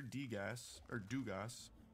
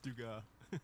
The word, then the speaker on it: Degas: It's just Degas. Degas. I've got the pronunciation right there. I thought I saw an S at the end of that. Well, I mean, it is, you but did, it's but it's French.